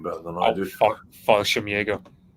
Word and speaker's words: Fallschirmjäger: Mitch will know the pronunciation better than I do. Fallschirmjäger. Fallschirmjäger, thank you.